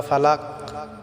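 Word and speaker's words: فلق: আমার চলুন আজকে সূরা ফালাক সহি শুদ্ধ করে আমরা পড়ে নেই আউজুবিল্লাহি মিনাশ শাইতানির রাজিম বিসমিল্লাহির রাহমানির রাহিম আউজুবি রব্বিল ফালাক প্রিয় বন্ধুরা আমার এখানে বড় কাফ আমাদেরকে উচ্চারণ করতে হবে এটা আমাদেরকে আইন গলায়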